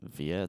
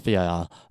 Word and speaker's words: VIR: How else would you pronounce it? VIA? That's so stupid. It's VIR.